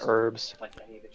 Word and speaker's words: herbs: As someone that doesn't actually pronounce my H's much, I still pronounce H in herbs. Yeah, herbs.